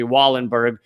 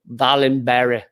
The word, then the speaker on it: Wallenberg: In collaboration with the Raoul and the Americanized way of pronouncing it would be Wallenberg Center for Human Rights, although I know from someone Swedish that it's like Wallenberg Center for Human Rights.